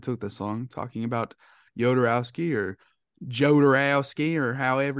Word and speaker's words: Jodorowsky: this long talking about yodorowski or Joe dorowski or however you pronounce it sure be hodorowski because it's yeah he's like people say hodorowski some people who say yoderowski some people say jodorowski he's French Chilean sorry